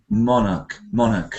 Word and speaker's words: monarch: That word monarch usually has a kind of unstressed ending, like monarch, like that, usually unstressed at the ending.